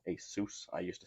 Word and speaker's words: ASUS: By the way, this is from Asus, not Asus, not Asus, Asus.